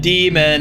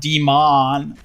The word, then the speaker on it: D.Mon: Demon said demon. It's pronounced demon, not D.Mon.